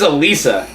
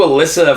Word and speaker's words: Alissa: Because it's spelled Alissa. Yeah, that's what I thought. Yeah, but my mom was always like, no, that's how you spell Alissa. And I was like, that's not right. But Alissa is how you would think you would spell phonetically, Alissa. yeah, that's the right way to say it.